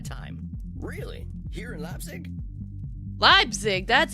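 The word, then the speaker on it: Leipzig: Labzig? That's how you pronounce it.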